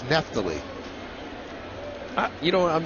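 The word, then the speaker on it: Neftalí: It's been mispronounced all of last year. And he never said anything. It's not Nefali. It's Neptally.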